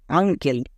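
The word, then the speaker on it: uncle: next আঙ্কেল, এখানেও দেখো এটা কি হলো আঙ্কেল, বাট একে উচ্চারণ করো কি দ্বারাই ইউ, ইউ এর জন্য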